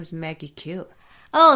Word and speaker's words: Khiew: pronounce your last name my last name is pronounced as Q it's spelled as k-h-i-e-w and it's pronounced the same as the letter q okay so Q